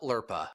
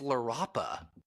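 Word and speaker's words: LRAPA: did you find it it's it's larapa it's larapa we're pronouncing it all wrong there's another yeah there's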